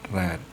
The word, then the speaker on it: read: in the first pass it becomes still red but we pronounce it red and this is the